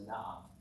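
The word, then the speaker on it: נער: It's accent on the first syllable, but it has patach here. And this is the word na'ah. Repeat after me. Na'ah. Na'ah.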